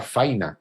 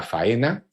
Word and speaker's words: faena: entre gente vulgar, faina, es usanza general entre la gente de campo llamar faina a la faena, pero también, como nos señala, que algunos de estos usos también se dan entre los cultos.